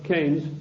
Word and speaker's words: Keynes: or Keynes he said Keynes was a better word because it arrived with it rhymes with brains and this is a